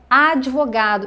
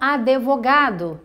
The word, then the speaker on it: advogado: problema da palavra advogado é que algumas pessoas falam ah de vôo cadu então não tem a vogal é depois do de taedonggang é mudo a gente fala de mudo então é advogado e não advogado certo quando você estiver